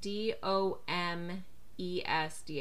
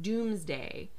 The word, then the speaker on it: Domesday: Either way, there's something funny going on with the language, because we spell it D-O-M-E-S-D-A-Y, so it's Domesday, but I've heard it pronounced Doomsday.